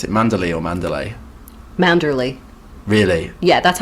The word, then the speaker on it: Manderley: How do you pronounce it? Mandalay or Mandalay? Manderley.